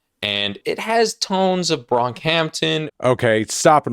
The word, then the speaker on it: Brockhampton: However, it is pronounced Brockhampton. It's not Bronkhampton.